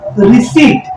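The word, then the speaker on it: receipt: ई की मात्रा लगाई प साइलेंट होता है और फिर तो हमने क्या पढ़ा रिसी तो यह हम तब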